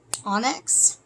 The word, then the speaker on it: onyx: Pile number 2, we have our black, someone just told me how to pronounce this correctly, onyx right here.